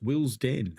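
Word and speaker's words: Willesden: day tomorrow Jonathan says the first e in wilon is silent it's pronounced Will's Den okay thank you very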